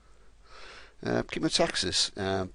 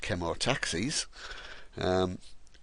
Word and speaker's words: chemotaxis: Chemotaxis, that's how it's pronounced. It's not pronounced Chemotaxis.